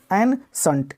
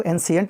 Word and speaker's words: ancient: तो क्या जी N shunt, N shunt, N shunt, N shunt मतलब है प्राचीन, पुरातन या हजारों वर्ष पुराना। तो याद रखेंगे वर्ड को एंशिएंट नहीं पढ़ेंगे, एनसंट पढ़ेंगे।